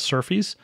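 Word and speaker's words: SRFI: scheme requests for implementation SF Sr fi um s they pronounce surfies this is the mechanism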